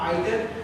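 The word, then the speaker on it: either: मैं इसी में कुछ और शब्द देता हूँ, जैसे एनी, सम, एवरी, ईच, आइदर, इसको आइदर और ईदर दोनों पढ़ते हैं, या नाइदर, इसको भी हम नाइदर और नीदर दोनों पढ़ते हैं।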